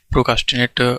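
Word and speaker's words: procrastinate: हुआ है यहाँ पे प्रोकास्टिनेट, इसको हम लिखते हैं प्रोकास्टिनेट, लेकिन जो प्रोनाउंसिएशन होता है वो हमारा होता है प्रिकास्टिनेट, ठीक है।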